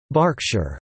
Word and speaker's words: Berkshire: topic Pennsylvania Berks County after Berkshire pronounced Berkshire England Bristol and Bristol